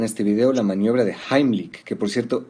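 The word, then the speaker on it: Heimlich: Vamos a ver en este video la maniobra de Heimick, que por cierto, esa es la pronunciación correcta porque está en alemán.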